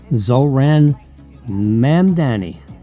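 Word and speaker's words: Zohran Mamdani: Forget about trying to pronounce his name. Zoran Mamdani.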